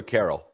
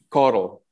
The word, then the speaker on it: Carl: And is it pronounced Carl or Carol? Carl. Carl. You're going to tie me up for a while with these names.